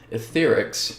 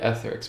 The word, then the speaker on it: AetherX: okay so that is trying to say it like she is etherics not really ethics but that's just how she pronounce it the etherics commercial so